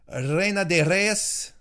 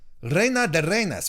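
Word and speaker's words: Reina de Reinas: got my royalties confused it's reina de reyes reyna de reynas why am i saying reyes that's not that's not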